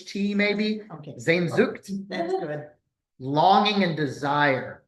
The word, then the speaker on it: Sehnsucht: Spell that, please. Nope. No. Can you say it's like Znzucht, maybe. Okay. Sehnsucht.